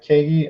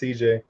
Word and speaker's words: CJ: the one you keep when you say it's Katie I'm pretty sure it's pronounced CJ all right well we